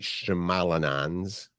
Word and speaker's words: Shyamalan: is opening next Friday along with M Night shalan do you know how to say it Mite Shyamalan shamalan I think yeah he's got a new movie